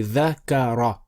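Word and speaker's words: ذَكَرَ: It's actually dhakara. Dhakara. Dhakara. So pronounce it. Dhakara. Excellent. Right, so dhakara is made from dha and ka and ra.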